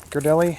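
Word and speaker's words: Ghirardelli: the hot cocoa mix i don't think from girdelli that's how it's pronounced oh just made a mess it's all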